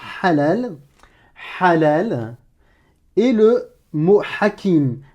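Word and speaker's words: حكيم: Tu vas me le prononcer ha, comme une expiration de l'air, mais râpeuse, étranglée.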